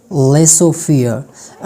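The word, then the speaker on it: laissez-faire: having जड sound silent मुझे सिर्फ दो वर्ड्स मिले जिसमें जड जो है वो जड का जो साउंड है वो साइलेंट होता है जैसे कि लेसो फे लेसो फियर उसके बाद है रेंडवा रेंडवा रेंडवा ठीक है अगर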